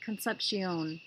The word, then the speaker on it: concepción: I am thinking of the Spanish pronunciation with the AI sounding like an e and a long Oh sound concepción based on my birthday